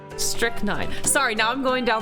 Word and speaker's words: strychnine: of reading recent recent uh publications on it strychnine strychnine really strychnine that's what we're going with huh strict nine wait strict name okay so in the uk